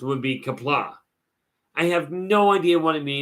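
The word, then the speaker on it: Qapla': But poorly pronounced would be Kapla.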